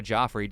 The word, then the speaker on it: Joffrey: It's Jeffrey, by the way. I know you can't see that it's spelled Jeffrey, but it's pronounced Jeffrey. It was very different.